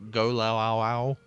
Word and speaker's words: Golloau: That's everything for Go Lao Ow Ow. Yeah, for Joshua, Yeah, for jargon. Joshua. Yes. Yes. For context, if you're just doing audio, it is spelt Golloau.